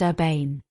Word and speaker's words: urbane: you know this word this one is pronounced urban urban it means Suave courteous